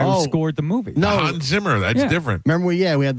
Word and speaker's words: Zimmer: No, Hans Zimmer. That's different. Remember, we had the Hans Zimmerman. It's Hans Zimmer, not show. Zimmerman.